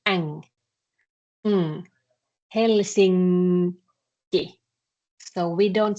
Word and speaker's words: Helsinki: But if you combine it with K, you actually don't do the N in the same way anymore. It kind of assimilates to K. So you pronounce N in the same place where you pronounce K.